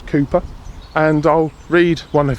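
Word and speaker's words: Cowper: 1700s a gentleman called cper although I've now discovered you have to pronounce it as Cooper and I'll read one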